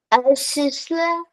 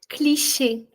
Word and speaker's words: cliché: Sisla. Okay, that was quite distant from what the pronunciation is. So we'll check with our expert, Cecilia, ma'am, if you can help us with that. Cliché.